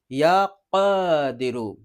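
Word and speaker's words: يا قادر: প্রিয় দর্শক বড় কফ আছে, নুক্তাওয়ালা কফ, সুতরাং আমরা বিশুদ্ধভাবে উচ্চারণ করার চেষ্টা করব, ইয়া কাদিরু, ইয়া কাদিরু।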